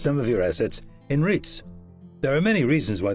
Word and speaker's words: REITs: You may also wish to consider ownership of commercial real estate through the medium of real estate investment trusts, REITs, pronounced REITs.